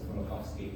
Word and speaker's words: Smoluchowski: In English, you might pronounce it Smoluchowski, but Smoluchowski is what he would call his name.